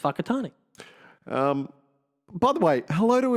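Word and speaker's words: Whakatāne: It's spelled, I know. W-H... AKE, whatever it is, but it's pronounced Whakatane.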